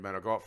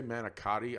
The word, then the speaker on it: manicotti: I made homemade menegot for dinner. What? Homemade menegot, the pasta. What word is that? Menegot. That's not how you say it. If you say manicotti, I Oh, swear.